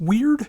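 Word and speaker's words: Wyrd: Now, we have the third album from Crawling Chaos with what is either pronounced weird or weird. It's W Y RD and I've heard it pronounced both ways, so you know, pick your poison.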